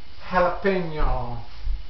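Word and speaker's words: jalapeño: This is jalapeno.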